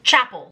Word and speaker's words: Chappell: It's Chappell, like a church.